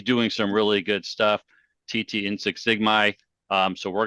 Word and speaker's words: Tetee: name is a tough one man it's been butchered all my life so uh the first name is real simple it's TT uh everybody just calls me and my